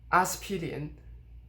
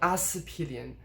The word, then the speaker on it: 阿司匹林: The next one is 阿司匹林. 阿司匹林. The s should be first tone, but actually it's de-stressed, and it actually goes even further than that.